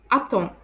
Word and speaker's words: attend: end of French verbs, the letters D and T are silent. For example, elle attend, which means she waits. Elle attend. You can hear that I don't pronounce the letter D.